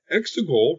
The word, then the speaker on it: Exegol: Exegol, rhymes with testicle, didn't explode.